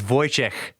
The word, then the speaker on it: Wojciech: It's Wojciech.